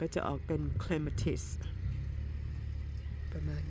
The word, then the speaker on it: clematis: เป็น clematis นะ คะ ถ้า ออก เสียง ตาม phonetics ก็ จะ เป็น clem atis ที นี้ ออก เสียง ควบ กัน นะ คะ เสียง ตัว M เสียง ตัว เสียง ท้าย นะ คะ เสียง ท้าย ของ แต่ ละ คำ เอา มา ควบ กัน มัน ก็ จะ ออก